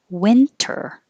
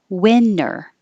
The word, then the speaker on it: winter: renown reinvent reinvent this you have two choices you can say with the t or without the t winter or winner which would sound exactly like winner loser you would only